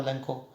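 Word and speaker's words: Lencho: With a satisfied expression, वो बहुत संतुष्ट होगा लैंको। और कई बार मैं इसको लैंको लैंको लैंचो बोल रहा हूँ ना बेटे, तो ये बहुत प्रोनाउंसिएशन करेक्ट है, तो लैंको भी बोल सकते हैं, लैंचो भी।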